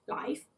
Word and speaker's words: life: Por favor, recordad que vida, life, se pronuncia life, pero vivir, to live, se pronuncia live.